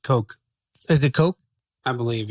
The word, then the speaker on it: Koch: I believe it's pronounced Coke.